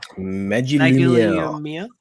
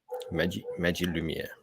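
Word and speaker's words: Magilumière: Magilumia. Magilumia. Because it's magic. Yeah. So they go with the J instead of the G.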